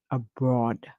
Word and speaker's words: abroad: you're going to say abroad abroad the O makes a short sound we hear o while the a is silent so we hear o